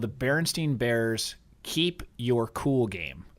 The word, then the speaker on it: Berenstain: do you remember the Berenstein bears I think that it's Berenstein it's kind of spelled like Berenstain Bear the better and stay